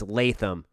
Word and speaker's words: Latham: here and correcting me on that so it's Latham thank you for that uh really appreciate that